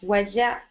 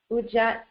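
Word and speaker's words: Wedjat: The name for the eye of Heru may be pronounced as Wajat, Ujat, or Uchat, meaning the whole or restored one, and also that which protects.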